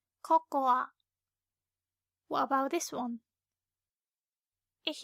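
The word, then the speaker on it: ココア: Unlike English, we pronounce the last a, cocoa.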